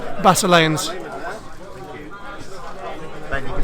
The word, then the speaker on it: Basileans: Hello, it's Basileans. Ben, you can say it now. How do you say this? I would normally say Basilians because I'm English, but everybody else seems to be saying Basileans.